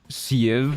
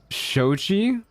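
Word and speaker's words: Xochi: Pronounce that name. Is it like, it looks like an Irish name. So I'm gonna say like Siev or something like that. Kiev. It's Shochi. It's Nahuatl.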